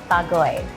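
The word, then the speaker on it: Bargoed: David, Wikipedia tells me that you were born in a Welsh town called Bagoy. That's correct. How did I go with the pronunciation?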